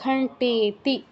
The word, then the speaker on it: ঘণ্টেতি: তৃতীয়ান চন্দ্রঘণ্টেতি, এটা কিন্তু মূর্ধন্য আছে, মূর্ধন্য ট, তো দন্তনর মতো উচ্চারণ করবো না, ঘণ্টেতি।